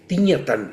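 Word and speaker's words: Thích Nhất Hạnh: mundo conocemos también que es la tradición de tignatan, ¿no? Que por cierto en en vietnamita se dice la la ch se pronuncia como ñatan, así lo pronuncian.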